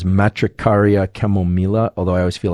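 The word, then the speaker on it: Matricaria chamomilla: chamomile I think the the proper pronunciation of this is matricaria chemomela although I always feel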